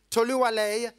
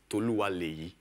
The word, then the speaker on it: Toluwale: Toluwale, you're first up for the University of Ibadan, Nigeria. And I'm going to ask you whether I've pronounced your name correctly. No, actually, it's Toluwale.